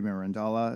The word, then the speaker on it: Mirandola: The Alchemist and Renaissance philosopher um Pico de mirandola is that how you say his name mirandola